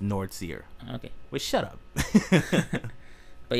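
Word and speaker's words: Fnordles: It's F-N-O-R-D-L-E-S. Uh-huh. He told me it's pronounced Nordseer.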